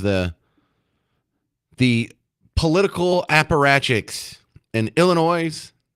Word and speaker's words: Illinois: So we have the the political apparachics in Illinois, Illinois. I know the S is silent.